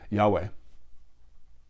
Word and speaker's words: Yahweh: Hashem, the name, or pronounced by its letters in the popular way, Yahweh.